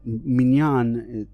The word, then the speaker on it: minyan: And it's called the minyan, right? Or minyan, as they're sometimes called in the Ashkenazi word. But minyan, obviously is the Hebrew pronunciation.